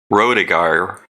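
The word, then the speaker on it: Rodeghier: The archive's still there because the guy who wrote this article, make sure I say his name, Rediger. I actually corresponded with him. Rodegeyer, Mark Rodegeyer.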